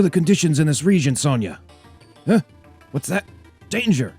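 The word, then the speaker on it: Sonja: take them don't worry sonia i will go i always used to think her name was sanja it's sonia like s-o-n-i-a but spelt with a silent j but but father you're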